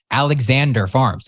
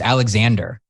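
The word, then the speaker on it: Alexandre: like, I got to ask, how do you pronounce this? And they're like, Alexander Farms. It's just Alexander.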